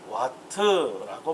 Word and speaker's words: 와트: 짧게 우리를 얘를 와트라고 말합니다. 와트. W라고 읽으시면 안 되겠습니다. 와트.